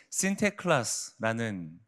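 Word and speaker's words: Sinterklaas: 이 성 니콜라우스라는 이름의 발음이 네덜란드식으로 신테클라스라는 발음이었고 뉴질랜드가 아니라 네덜란드에서 있었던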